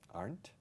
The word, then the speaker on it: aren't: Mine Aren't. aren't young. Aren't. Mine aren't young. Mira, es una sola sílaba.